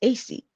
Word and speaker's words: AyCee X: but I was just AC like yeah so the ex as I said the ex is silent it's just there for